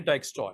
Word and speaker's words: Dijkstra: star या डाइक स्टॉ ये डाइक स्टॉ है जे इज साइलेंस तो साइलेंट इसमें जो है रहेगा वो आपका जे रहेगा डाइक स्टप एल्गोरिथम टू फाइंड द